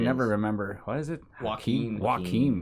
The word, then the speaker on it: Joaquin: because I can never remember why is it Joaquin Joaquin walking please he's also a really weird guy so